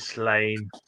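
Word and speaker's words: Sláine: How's that pronounced, Graham? My brother called Slanye. He pronounced it Slanye. Slanye. Slanye. Yeah. I just go with Slane.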